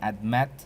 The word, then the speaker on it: admit: Admit, so the focus is on met.